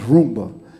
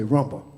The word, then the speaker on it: rumba: you you call RBA it's it's Roomba but most people say Rumba you know they don't know how to say it but anyway um